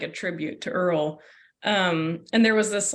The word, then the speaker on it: Earl: But that's the origin is from this very silly fat cat that we had named Earl. Spelled like squirrel, but without SQ.